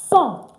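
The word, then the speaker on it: cent: Cro D and then 2000 is pronounced son that is how you pronounce it's not sent please it is son don't forget when we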